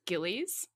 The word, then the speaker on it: Gillies: have to ask you are we pronouncing anouncing Dr Harold Gillis correctly it's Gillies okay oh really oh I